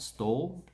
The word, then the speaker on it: Stawell: Then we have Stawell. Is how you pronounce it. Stall. A stall like in a shop or a market stall. And well.